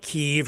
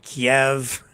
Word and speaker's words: Kyiv: Or that's But it's kind of like Kyiv or Kiev. How do you want to say that? Tomato, tomato, potato, potato. Care, Keir.